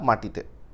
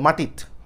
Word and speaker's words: মাটিত: তারপর কি, পিঁপড়ার ভয়ে মাও না থুইলা মাটিতে। তাহলে এখন যে মাটিত, উচ্চারণটা কিন্তু মাটিতো হবে না, মাটিত।